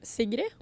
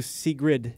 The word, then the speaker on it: Sigrid: girl secret now say so your name in how it's pronounced in Norway cigarette cigarette but it should I go with shall I go for a cigarette or should I just do C grid should we go for